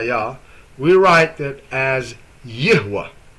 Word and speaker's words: Yahweh: So if you would say Jehovah that would like alter the name of Yahwa and not only that the way you even spell it and pronounce it.